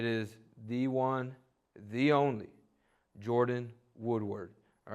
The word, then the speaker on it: Jordyn Woodward: dial in how we always man all right Jordan Woodward is that how you say it am I